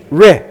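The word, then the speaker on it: ר: You pronounce the resh, ri.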